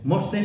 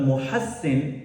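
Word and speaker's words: Muhsin: Mosin is a more common name. Most people are aware of the name Musin and it's very common. But Muhassin is the true pronunciation of the name that the prophet sallallahu alaihi wasallam gave to his third grandson.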